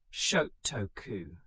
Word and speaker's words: Shotoku: Prince Shotoku, pronounced Shotoku, who served as regent in the early 7th century, became one of the most influential figures in Japanese history.